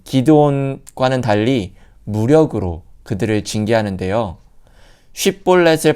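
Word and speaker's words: 쉽볼렛: 쉿볼렛을 발음하지 못하고 십볼렛이라 발음하는 이 에브라임 사람들을 찾아 죽이게 되는데 죽은 자가 42,000명이라는 어마어마한 숫자가 죽습니다.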